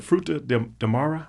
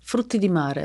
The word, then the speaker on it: frutti di mare: Is it the fruta de mara? How you say it? Frutti di mare.